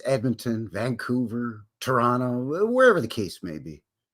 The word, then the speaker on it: Toronto: today we're focusing on toron or Toronto if you will but most Canadians pronounce it Toronto up here in Canada